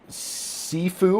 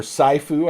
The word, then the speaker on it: Sifu: Sifu or Saifu, I don't know exactly how it's pronounced. Sifu, thank you.